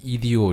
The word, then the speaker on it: idio: IDIO 이런 겁니다. 그래서 EDO 이렇게 발음하거든요.